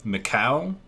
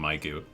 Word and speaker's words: Mikau: Mikau? Mikau? I always call him Maiku, which is completely incorrect.